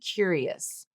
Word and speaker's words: curious: and it's the word curious. So the pronunciation that she's using is the top one that I have uh spelled out for you using the stressed vowel cure. Cure cure.